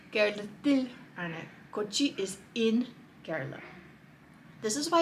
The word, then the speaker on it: Kerala: Now, in English we say Kerala, but in Malayalam the actual pronunciation is Kerala.